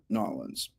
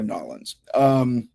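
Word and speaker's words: New Orleans: Before we jump in with Michelle, I want to give a special shout out to our friends in Nolens. That's how you say it here in America, Nolens.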